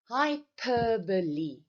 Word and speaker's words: hyperbole: Hyperbole, that is how we pronounce it.